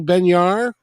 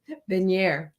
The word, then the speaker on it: Benyair: all that I'd like to welcome um benyar right benir I knew it dang it I I don't